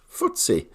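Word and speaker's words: FTSE: the last year to the footsie 100 pronounced footsie which monitors the performance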